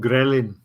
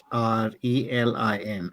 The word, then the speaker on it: ghrelin: How do you spell that hormone ghrelin? That is GHRELIN. Ghrelin. Grelin.